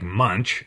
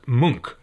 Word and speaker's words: Munch: All right, let's talk about Ulla Munch, which is spelled like Munch, M-U-N-C-H, but pronounced Munk, apparently.